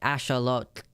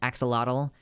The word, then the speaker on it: axolotl: that word because it's it's not just Asha look it's like they're the TL at the end Axolotl when people are like